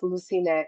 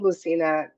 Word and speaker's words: Lusine: It's actually pronounced Lusine in Armenian, and it was my grandmother's name. And I was called Lucina all my life, up to my teenage years.